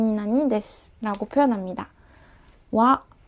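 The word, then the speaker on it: は: 표기 되어 있잖아요 그런데 예외적으로 이 아가 조사로 쓰이는 경우에만 와 로 발음 해준답니다 이 부분만 조금 주의해서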